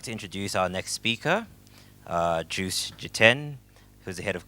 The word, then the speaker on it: Joost: Ladies and gentlemen, please let's welcome Joost. It's Joost. Apologies.